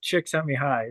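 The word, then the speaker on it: Csikszentmihalyi: figure out I know I had to write it down phonetically which is which is just chick s me high so take that for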